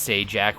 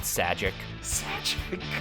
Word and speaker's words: Sajak: half let's be real why is pat sajak's last name pronounced say jack when it's clearly spelt sagic i'm stopping recording sal